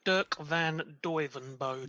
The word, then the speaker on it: Dirk van Duijvenbode: Dirk van Duijvenbode.